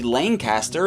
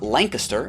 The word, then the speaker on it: Lancaster: Call this Pennsylvania city Lancaster and not LAN-kisster.